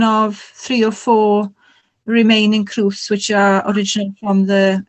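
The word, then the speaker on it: crwth: was that what, I don't know how to pronounce it, a crowth? Yeah, that is a crowth.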